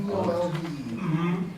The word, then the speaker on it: Realvolve: REALVOLVE. Real, RealVault. VOLV, like revolve, but real.